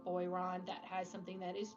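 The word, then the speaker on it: Boiron: holistic things from Amazon um this company called boyon that has something that is just for your Airways oh what spell that b o i r o n and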